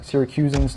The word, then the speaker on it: Syracusan: hes the syracusan there yeah that's how you pronounce it syracusan now have Ausin Hotes well actually they always